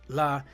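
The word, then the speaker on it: ל: So the word la is numerical value 30, pronounced la.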